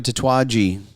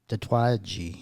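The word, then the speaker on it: Tatuaje: We're going to review a Tattooi. Tattooi. Tattooi. That's how you pronounce it.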